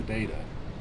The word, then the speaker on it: data: what data is the English way of saying it that's what I'm saying yeah but I don't yeah but then you say it with a d instead of a t as the American way which is what no